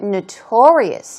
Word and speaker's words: notorious: Moving on to notorious. Here we go. Stress goes right there on the second syllable.